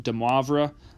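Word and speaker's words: de Moivre: probably more than once i believe it's pronounced damovra but again not positive i feel bad because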